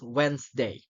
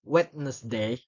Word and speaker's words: Wednesday: the silent k and here's another example of the words of the silent D I had the most delicious sandwi last Wednesday so if he pronounce it like I had the most delicious sand sandwich last wetness day it will be wrong people will get misunder